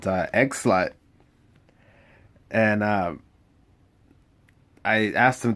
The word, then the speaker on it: Eggslut: And yeah, it is like egg, like huevo, and then slut, like bruja de la noche, like lady of the night.